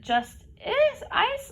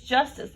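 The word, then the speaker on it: Justyce: you from is it just is ice like rhymes with price martin it's justice man just like with a y i'm from atlanta everything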